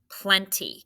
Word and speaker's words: plenty: or an e right we know that at the end of a word if it's an open syllable the y makes the e sound plenty we have learned